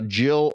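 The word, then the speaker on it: gill: Um they would get a jill. It's actually spelled g i l l, but pronounced jill.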